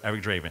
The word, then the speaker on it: Eric Draven: so did I say it right yes sir Eric Draven and in your middle name is crowd crow